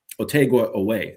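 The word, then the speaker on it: Otega Oweh: back the other way to try and stop Otegua Away. I finally pronounced his name correctly.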